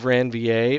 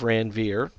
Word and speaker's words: Ranvier: are called nodes of ranvier or nodes of ranvier I've heard it pronounced both ways and what literally happens